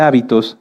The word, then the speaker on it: hábito: muchas definiciones de hecho si cambiamos el acento de la palabra hábito lleva acento en la a se refiere a esto a nuestras costumbres y si lo cambiamos hacia el final es habitó que viene de habitar fíjense que como en